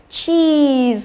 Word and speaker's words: cheese: Rồi, như vậy là cứ nhìn thấy hai chữ ee thì phải đoán ngay là gì? Y dài, đúng không?